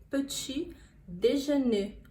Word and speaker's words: petit déjeuner: som ele é marcadinho pôr as carinha pampuch petit-dejeuner eu te deixar né e o r no